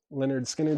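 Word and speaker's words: Lynyrd Skynyrd: Uh, Ministry, Every Day is Halloween, The Lost Mixes, Pearl Jam, Live, Chicago 1992, Tom Petty, Full Moon Fever, Leonard Skinnard, pronounced Leonard Skinner.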